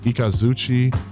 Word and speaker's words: Ikazuchi: Ikazuchi, which is what this is, the lightning.